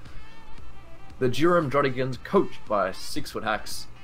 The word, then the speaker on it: 6ftHax: The Durham Drodigons, coached by 6-foot hacks. Spell it, but it is 6-foot hacks, versus the Los Angeles Nidokings, coached by TTM Crobat for the win.